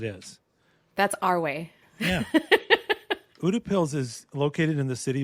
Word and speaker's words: Utepils: Yeah, it's Udapills. That's what I'm going with. I think they agree. Yeah, that that's how it's pronounced.